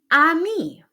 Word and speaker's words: amie: Amie, same pronunciation.